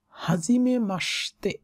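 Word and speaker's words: はじめまして: বলবে কাই ওয়া conversation হাজিমে মাসতে উচ্চারণটা এরকম যদি এরা মাসিতে মানে যদি আমি ডিটেলস লিখি কিন্তু বলে মাসতে হাজিমে মাসতে হাজিমে মাসতে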